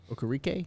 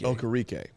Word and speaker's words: Okereke: Okereke? Bobby Okereke. Okereke.